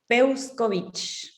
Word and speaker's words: Peuscovich: un apellido peculiar y curioso como cómo se pronuncia tu nombre de familia busco vinci o sea que peuscovich muy bien tiene